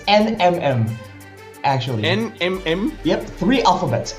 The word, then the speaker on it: NMM: It's NMM actually. NMM. Yep. Three alphabets. NMM. That's all it takes. Just like that into the drafting phase. So it's like M&M but NMM.